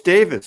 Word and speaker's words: Davies: Ray Davies pronounced Davis is British."